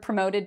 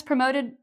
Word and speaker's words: promote: Pro is kind of like progress. Okay, that's what promote reminds me of. It reminds me of progress, and it has the same prefix to it, pro. Mote. Okay, so this is 2 syllables, promote. And when we say it, we put the stress, or we say the second part louder and longer.